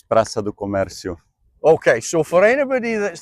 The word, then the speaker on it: Praça do Comércio: Give us the Portuguese pronunciation of this place before I butcher it. It's Praça do Comércio.